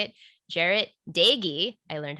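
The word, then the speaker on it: Doege: quarterback derrick how do you say it jarrett dagy i learned how to say that today his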